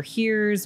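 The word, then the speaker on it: hir: newer pronouns right so you've got z here here's which were the first neo pronouns you spell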